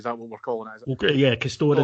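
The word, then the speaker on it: Castore: Okay, yeah, Castor is apparently the pronunciation.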